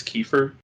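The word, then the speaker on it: Kiefer: my favorite characters in that game is prince keefer that's how you pronounce it i like him yeah yeah character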